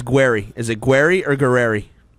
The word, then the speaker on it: Guererri: say your name on Saturday nights he says guerry is it guerry or gueri gu guerry that is the proper pronunciation okay I like it I thought it